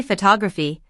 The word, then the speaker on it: photography: But when we say photography, the stress shifts to the second syllable to to og phy.